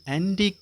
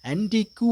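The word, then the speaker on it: antique: இருந்தது அவளுடைய அறை அப்ப ஆன்டிகு என்று அதை உச்சரிக்க கூடாது ஜூ இ வெறுவர் உச்சரிப்பு இல்லை சவுண்ட் இல்லை ஆன்டிகு என்று உச்சரிக்க கூடாது தயவு செய்து அதை ஞாபகம் வச்சுக்கோங்க ஆன்டிக் இக்கோட முடிஞ்சிரும் என்ன ஆன்டிக் திங்ஸ் அதாவது வந்து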